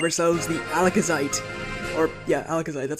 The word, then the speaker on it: Alakazite: cave we have ourselves the alakazite or yeah alakazite that's how it's pronounced it's get mega Alakazam so that's honestly